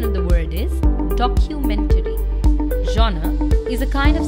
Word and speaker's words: documentary: It is often incorrectly pronounced as documentary. Please remember, CU will not be pronounced as ku, but as Q. Q. Documentary. So the correct pronunciation of the word is documentary.